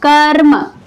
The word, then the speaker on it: कर्म: रहा है, ठीक है, रॉ का उच्चारण हो रहा है, तो वो क्या करेगा, उसके बाद वाले अक्षर पर रेफ का निर्माण करता है। इसलिए इसका उच्चारण क्या करते हैं, कर्म। देखिए, कर्म, कर्म।